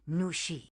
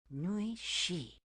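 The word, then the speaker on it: 女士: Ni hao nu shi. That's still not it, is it? That was almost it. Your hello was perfect, but remember, the last syllable of miss has a falling tone. Nui shi.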